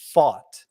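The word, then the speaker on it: Pfaadt: which by the way I think we're pronouncing it wrong slightly it's fought it kind of sounds like the word thought yeah like I fought the law and the law won yeah something like that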